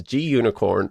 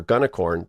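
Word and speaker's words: gunicorn: have green unicorn which is often pronounced as g-unicorn or gunacorn depending on who you talk to so this is an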